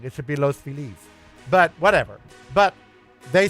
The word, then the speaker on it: Los Feliz: I don't care what most of Americans say, they're all The pronunci- Just like it when you live there, you say Los Feliz, at which is still wrong. It should be Los Felice, but whatever.